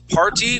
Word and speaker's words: party: Um party would be party. Part Dy with D. With a D.